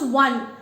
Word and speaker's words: one: when we pronounce it, when we pronounce 1, do you hear a vowel sound? No. You do not hear a vowel sound. Instead, you hear a consonant sound.